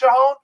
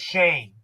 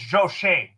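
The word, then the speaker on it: Schoen: shahon i mean i i thought it was pronounced shahoon but john mara says it's shane it's not a any but it's pronounced shane even though it's is s-h-o-e-h-e-n it's chain it's joe shane as the new gm of the new york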